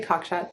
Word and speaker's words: Cockshut: It's exactly as it's written. Rosie Cockshut.